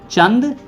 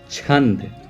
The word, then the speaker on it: छंद: आई am sorry to you guys, it's not pronounced as चंद बट it's pronounced as छंद। मैं आप सभी से माफी चाहूंगा, ये चंद नहीं, ये होता है छंद।